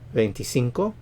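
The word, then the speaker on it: veinticinco: vain di Quattro pentecuatro venti Cinco benty Cinco venti Cinco stress on the scene venti Cinco venti Cinco ventises stress on the last syllable because of the accent mark ventises 26 26.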